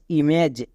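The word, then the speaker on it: image: ক plus এজ catch I এম ইম plus এজ ইমেজ এম এ এন ম্যান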